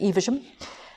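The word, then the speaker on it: Evesham: the premier inn over at evasion that's how you say it evasion if you're local and then i dropped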